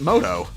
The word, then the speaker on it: Muto: Yugi moto sort of the official spelling is Muto but they pronounce it moto don't ask me why